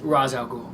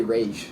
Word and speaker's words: Ra's al Ghul: Ra's al Ghul. Ra's al Ghul. Some people even say Rage, like Rage.